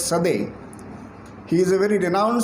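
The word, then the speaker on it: Coedès: a french author so the spelling is codc but they pronounce it as sade he is a very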